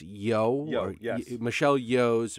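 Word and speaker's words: Michelle Yeoh: to say that Michelle I believe it's pronounced yo Michelle Yo's performance was better than Cate Blanchett and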